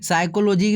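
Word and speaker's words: psychology: सी number हो जाएगा साइकोलॉजी में पहला अक्षर आपका जो बी होता है साइलेंट रहता है याद रखिएगा अगला देखिए क्या है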